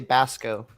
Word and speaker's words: Baxco: And then also Baxco. Baxco? Is that how you say it? The C is silent. You can just say Basco.